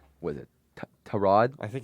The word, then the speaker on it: Tyrod Taylor: His name is pronounced T- Rod. Is it really like like Trod? It's Trod instead of like Tyrod.